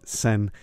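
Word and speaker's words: Sehn: It's spelled S-E-H-N, so Dan Sen.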